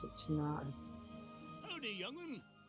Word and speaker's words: Tunare: What's interesting is that these seem to pronounce it Tunare consistently. I always read it as Tunare because of the E at the end, but consistently the voiceovers pronounce it Tunare.